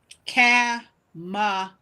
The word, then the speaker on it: Kamala: Her name is pronounced Kamala.